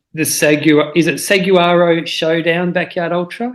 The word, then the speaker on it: Saguaro: And this race was called the Saguaro Showdown Backyard Ultra? Is that how it's pronounced? Yeah, Seguaro Showdown.